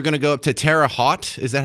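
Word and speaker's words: Terre Haute: next story we're going to go up to Tera hot is that how you pronounce it Indiana I've always seen it written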